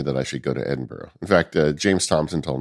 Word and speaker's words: Edinburgh: Edinburgh? That is how you say Edinburgh, yeah.